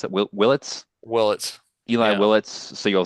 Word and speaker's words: Willits: So what I'm hearing is that your number one pick, Eli Willits, is that how you pronounce it? Willits? Willits.